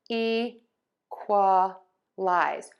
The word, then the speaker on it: equalize: And we have fer-duh-lize and ee-kwuh-lize. So we're still going to have the stress on syllable one.